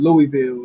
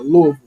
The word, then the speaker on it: Louisville: it Louisville I just found out I've been pronouncing it wrong for for years I've been calling it Louisville it's uh Louisville you know they'll kick you out the city